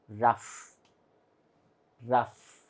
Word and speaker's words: rough: it is g h there is no F at all but still we pronounce it as rough rough and here it is